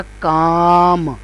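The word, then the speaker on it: calm: तो यह बन जाएगा काम पहला लब्ज था पाम काम लेकिन इसमें क्या है कि ये इन स्ट्रोक्स में एल स्ट्रोक जो है वो साइलेंट है वह प्रोनाउंस नहीं हो रहा तो ऐसे अल्फाज जिन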